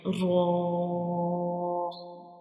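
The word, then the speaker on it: ر: To pronounce raw, we will touch the tip of tongue to the back side gums of upper to front teeth like raw raw raw.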